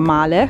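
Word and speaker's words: Malé: turisti, come noi, da Male, ci hanno detto, non si dice Male, la capitale delle Maldive, ma Male, e vi porta qui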